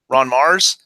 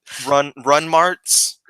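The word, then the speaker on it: Ron Marz: Ron Mars? Okay. Now I know how to say his name because I interviewed him before. It's not Run Marts.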